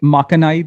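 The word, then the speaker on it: 負けないで: So on Jukebox 3, the first track, is it Makanaide? Is that how you pronounce it?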